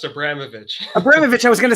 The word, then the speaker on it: Abramovitch: pronounce your last name it's pronounced abramovic abramovic i was going